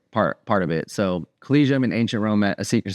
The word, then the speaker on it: Collegium: always just like cium collegium col it's always like something that looks really hard to pronounce but it's pretty much as it's read uh so it's Clum